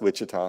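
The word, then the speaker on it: Ouachita: It's, O-U-C-H-I-T-A. Yes, Wichita. it doesn't sound like Wichita.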